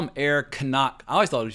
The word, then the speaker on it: Knock: is incredible as well they call him air kanak I always thought it was just knock because that's how i' pronounce it in English but knock is a